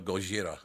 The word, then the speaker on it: Gojira: the ocean oh goira I love the fact they pronounce Godzilla Gojira I love that goira sounds a lot scarier than Godzilla doesn't it oh 100% yeah abolutely